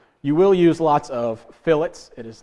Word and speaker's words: fillet: need to know you will use lots of fillets it is not pronounced filt it is pronounced it is pronounced fillet uh I got fussed at the very first time that I said it was a filet and so I'm going to head everyone off